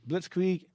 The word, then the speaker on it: blitzkrieg: swift victory blitzkrieg yes blitzkrieg that's how you pronounce it blitzkrieg go to images i'm not sure yeah it